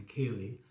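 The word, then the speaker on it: ceilidh: This one is C1, the Cayley, and that's the pronunciation of that rather strange spelling.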